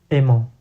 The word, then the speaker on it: aimant: And because in French the final T is silent, it's not written in the loanword in Portuguese.